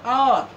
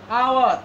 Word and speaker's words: hour: An hour, hour, H O U R, H এখানে silent, O U R, hour, কিন্তু এখানে H আছে, Hটাকে আমরা সাইলেন্ট করছি।